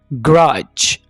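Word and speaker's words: grudge: ग्रज। यहां पर डी को साइलेंट रखेंगे।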